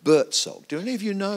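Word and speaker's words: Buurtzorg: It's B-U-U-R-T-Z-O-R-G. Bertzog. That's how you pronounce it.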